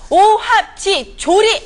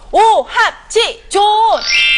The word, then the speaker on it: 오합지존: 지금부터 발음 잘하셔야 됩니다 오합지졸이 아니고요 오합지존네 그렇습니다 가요의 다섯 지존이